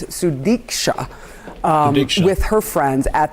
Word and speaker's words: Sudiksha: that still show uh sudit konaki sorry I said her name wrong it's sudika um with her friends